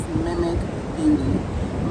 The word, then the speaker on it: Mimik.beauty: The correct way to pronounce the brand is Mimikbeauty. My name is Mimikamara, and I just took Mimi and the last name, start over.